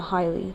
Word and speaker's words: chyli: It starts at the T12 vertebra after the cisterna chyli, or the cisterna hyli. The C is silent.